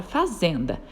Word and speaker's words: fazenda: Veja a palavra fazenda. Fazenda! O zen é aquela sílaba que a gente falou com mais força. Ela é a sílaba tônica.